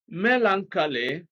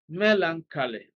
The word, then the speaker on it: melancholy: now the word here Melancholy has stress on the first syllable Melancholy most uh e l